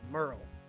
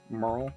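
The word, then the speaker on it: Myrle: is your name uh my name is uh Merl Merl mhm how do you spell that uh m y r l e m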